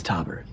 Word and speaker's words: Taubert: It's Taubert. Robert with a T.